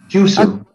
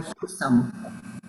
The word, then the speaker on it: Husom: Christine, how do you pronounce your last name? Yep, it's Husom. Did I get that right? Husom. Husom. I think maybe the true Norwegian pronunciation would be Husom, but. Okay. But it's more Husom. You got Americanized.